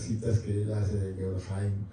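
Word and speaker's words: Heine: Cuando uno oye las citas que él hace de Jaim, Jaim se pronuncia, Fran, pero Jaim.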